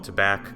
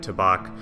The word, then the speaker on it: Tabac: native German speaker that they do pronounce the second A with a ah sound, like Tabac, but I think they said they kind of balance the emphasis on both syllables. So instead of Tabac with an accent on that second part, it's more balanced.